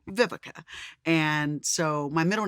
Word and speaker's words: Vivica: name growing up um a lot of people couldn't pronounce vivica so i was called vivisha i was called everything but vivica and so my middle